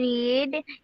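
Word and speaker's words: read: সালাত তারপরে then I রিড ইন two hours হবে আচ্ছা শোনো পাস্ট টেন্সের উচ্চারণ হবে রেড হবে হ্যাঁ রেড দেন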